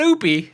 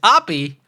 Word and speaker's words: Oppy: until you recognize that it's not oopy it's Opie but I prefer to